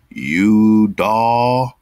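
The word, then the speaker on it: Yudah: Udaw. Come on, man. How they spell it?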